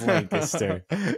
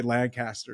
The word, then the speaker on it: Lancaster: uh oh yeah yeah yeah dude I love lanaster yeah I always forget that's how you pronounce it I always want to say Lancaster yeah yeah yeah they they'll tell you it's